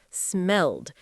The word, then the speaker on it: smelled: Smell is a regular verb, so we add e d. And because it ends in an l sound, a voiced sound, the ed d ending uses the d sound.